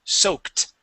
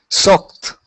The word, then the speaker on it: soaked: As well, when the word sounds like a a k sound, like soak, that ed d is a t. Soaked. Soaked.